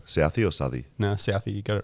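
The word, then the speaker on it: Southee: Southey or Southey?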